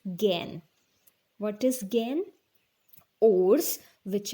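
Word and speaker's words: gangue: ores are called gen g-a-n-g-u-e pronunciation is gain what is gain ores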